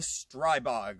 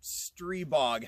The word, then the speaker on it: Stribog: this thing out on is the strai bag or stree bog however you want to pronounce it I've seen it both ways I'm going with stri bog or just bog so the pro v2